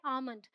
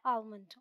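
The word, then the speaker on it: almond: debate चलती रहती है आलमंड है या आमंड है तो एक्चुअली ये दोनों ही है ब्रिटिश इंग्लिश में एल साइलेंट है ये है आमंड अमेरिकन इंग्लिश में एल प्रोनाउंस किया जाता है और हो जाता है आलमंड ऑलराइट ये है बाम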